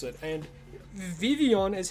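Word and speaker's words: Vivillon: And Vivian is how you're meant to pronounce it. The L's are silent. Believe it or not, it's Vivian.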